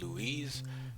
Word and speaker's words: Louis: know of it it's Louise when I think of Louisiana right but when I think of when I read this I think Louie as in Louis Vuitton like that so I pronounce it